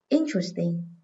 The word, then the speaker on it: interesting: Interesting. Từ này các em xét theo hai cách. Cách số 1. Âm thứ hai chứa ơ, nên trọng âm rơi âm số 1, vì ơ không bao giờ nhận trọng âm. Cách số 2.